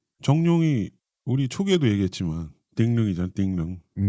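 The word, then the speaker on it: 狄龍: 띵릉. 그게 홍콩식으로 발음을 하면 정룡을 띵릉인데 그게 아랑드롱의 드롱.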